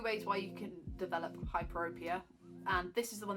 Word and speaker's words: hyperopia: The other cause of hypopia, oh god, I've said it wrong again, hyperopia, is another one to do with the shape of your eyeball.